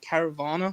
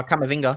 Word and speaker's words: Camavinga: Caravana? Is that how you say it? Oh, Camavinga. We should have got him.